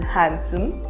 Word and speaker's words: handsome: There are some common words in which letter D is not pronounced. For example, handsome or sandwich.